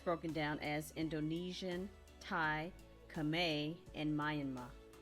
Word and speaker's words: Khmer: down as indonesian thai kame and myanmar that's how the internet said is pronounced the khmer is kameh all right then she